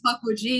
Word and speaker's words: Pukwudgie: And then she has, and forgive me if I mispronounce this, Pukwudgie. Is that right? Okay. Yes. All right. I just say Pukwudgie, yeah.